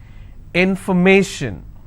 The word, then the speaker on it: information: will stress on stay if i have more number of syllables information first i will break it in for me so where do i stress i will stress on me information if i have the